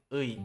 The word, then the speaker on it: 의: That's why when pronouncing 의, you produce the sound, then bring your tongue to the lower teeth with speaking e sound.